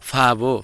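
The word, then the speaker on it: 바보: यसलाई किन फाबो भनियो त? किनभने ब शब्दको अगाडि आउँदाखेरि जहिले पनि फ उच्चारण गर्नुपर्छ भनेर उच्चारण विधिको नियममा पढिसकेका छौँ। त्यसैले यसलाई अब बाबो नभनेर फाबो भनिएको हो।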